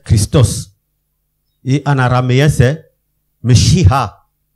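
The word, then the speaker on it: ܡܫܝܚܐ: Et en araméen c'est Meshiha. Meshiha. On ne prononce presque pas le E là, de me. Donc ils écrivent un petit E, Meshiha.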